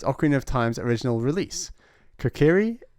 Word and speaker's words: Kokiri: Kokiri. I pronounce it Kokuri, like potpourri.